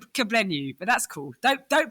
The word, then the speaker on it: Kugblenu: It is Kuglanu. I hope I pronounced that right. It's a You know what? It's a silent G, which is so which is so cool.